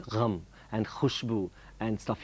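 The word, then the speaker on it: ग़म: I had to have a kind of an instructor saying, it's not gum, it's gham.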